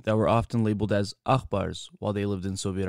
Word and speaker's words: Aghpar: were often labeled as akbars while they lived in soviet armenia akhbars which is a play on the western armenian pronunciation for brother yakber was used as